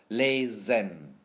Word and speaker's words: lesen: However, if the S is before a vowel, which is A, E, O, O, U, or in the middle of a word, it's pronounced like a Z sound, like lesen, lesen.